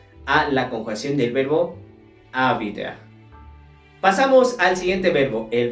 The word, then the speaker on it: habiter: Bien, en primera y segunda persona del plural hacemos una liaison porque esta palabra comienza con H muda.